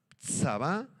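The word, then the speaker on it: צבא: en el original hebreo conflicto es la palabra Saba la del letreo t s a b grande a con acento en la segunda a saaba y grande es la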